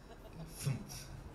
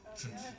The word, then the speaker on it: Fünf: Fünf. It's like there's no vowels in there. It's just all it's just like F N F. Fünf.